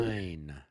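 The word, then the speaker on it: Löwenstein: You always take the second of the two vowels and pronounce Okay. that one. So then it's It's like opposite of English. It's really, Lowenstein.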